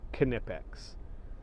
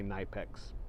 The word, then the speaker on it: Knipex: I did actually hear a manufacturer say it's pronounced knipex uh so that as far as I know that's how I say it kipic some people say Knex but kipic um it's an adjustable uh crescent